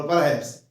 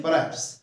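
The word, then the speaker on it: perhaps: बोल परहैप्स यानी परहैप्स, एच अगर हम नहीं बोलेंगे तब भी आप इसको पकड़ लोगे कि इन्होंने परहैप्स बोला है। परहैप्स होता ना स्पीड जो बोलते परहैप्स, तो हा को हमने साइलेंट यानी अंदर ही रख लिया, तब भी आप हमारी बात को समझ गए।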